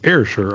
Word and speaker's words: Ayrshire: So it's Ayrshire, I believe, is the actual way that city is pronounced, not Ayr.